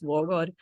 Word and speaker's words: Waagaard: guy but it's like the correct pronunciation is war God but also you don't you don't um sign out the W the W's like so it's like four A's in my last name and the two A's